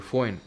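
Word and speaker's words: Foehn: फोएन एफ ओ इ एच एन इसकी spelling होगी। फोएन विंड जो होती है ये ड्राई ड्राई और वार्म विंड होती है।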